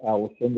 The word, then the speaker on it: Ålesund: And also going north from Bergen, we're going to be going up into the town of Ålesund, or Allison, as some people prefer to pronounce it.